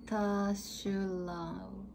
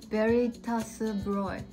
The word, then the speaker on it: Veritasbräu: Veritaschulau. Yeah. Veritasbräu. Oh, okay. Broy. Broy.